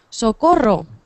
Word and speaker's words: socorro: Socorro Socorro exactamente Socorro no tengáis miedo de pronunciar bien la r Socorro vale Socorro por ejemplo